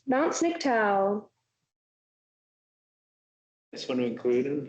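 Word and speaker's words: Sniktau: Okay, who is going to teach me how to pronounce this? Snicktow. Snicktow, Mount Snicktow.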